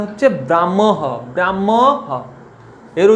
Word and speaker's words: ব্রাহ্ম: তাহলে কি মনে রাখবে, যদি মফলা হয়ের সঙ্গে যুক্ত থাকে, হ দিয়ে মফলা যুক্ত বর্ণগুলো উচ্চারণ সবসময় কিভাবে করবে, মটা আগে রেখে উচ্চারণ করবে।